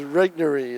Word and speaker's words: Regnery: was Regnery. That's how you say it.